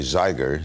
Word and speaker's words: Zeiger: My name was Zeiger, Z-E-I-G-E-R, only 2 syllables, and that was 1957